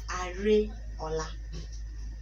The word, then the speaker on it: Areola: So it's Areola. Areola? No, no, no. Not Areola.